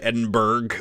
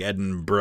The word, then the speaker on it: Edinburgh: I I appreciate that he didn't call it edinberg which is what some people do cuz it's spelled b r g but edin burrow is a town in Pennsylvania it's b o r o uh Scotland's is more like edin BR or edin BR you know it's not